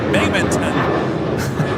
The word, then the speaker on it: Binghamton: Cap, because I'm flying Delta out of Binghamton, pronounced Binghamton.